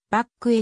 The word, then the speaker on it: Bacque: 感を与えたせーの発音は日本語で表記するとバックへに近いものの日本に来た